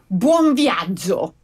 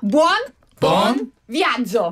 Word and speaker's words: buon viaggio: 그래서 우리가 buon viaggio. buon viaggio. 봄비앙주. buon viaggio. 따라해보세요. buon viaggio. 미안하죠. 즐거운 여행 되세요. 본비앙주.